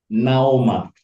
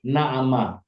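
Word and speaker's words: נעמה: Kalau ini nikut ini jatuh di gutural ain, bunyinya O. Maka ini bacanya Naoma. Tapi boleh, ada dua versi. Ada bisa dibaca Naoma, lebih bagus dibaca Naoma atau Naama, ya.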